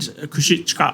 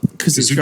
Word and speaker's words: Kazuchika: between Brody King and Kushika Okada's Red Tomato Chest. Oh, mate. You want to pronounce that a little better? Kazuchika Kazuchika Okada. Okada. Kazuchika. Kazuchika.